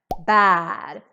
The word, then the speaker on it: bär: So if you forget the two dots, or if you pronounce this as an A, then you're saying bar. In Swedish, we say bar.